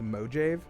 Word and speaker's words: Mojave: somebody from the mojave i understand that it's pronounced mojave just act out um i am robert allen